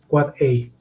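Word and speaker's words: AAAA: N devices IPv6 address pronounced quad I quad a m Mak a male exchange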